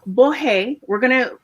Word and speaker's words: Borret: Borret. She said it's okay to pronounce it the French way because it has French origins.